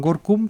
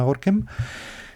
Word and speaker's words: Gorinchem: en un pueblo que se llama Gorkem, que lo llaman las fuentes de la época lo llaman Gorkum, pero bueno, hoy día lo llaman en Holanda Gorkem y se escribe Gorinchem, o sea, que hay